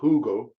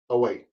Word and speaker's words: Hugo: diego maradona's a younger brother google it's not hugo i mean the spanish you don't pronounce the hate is silent so it's ugly uh age 52 i believe of a heart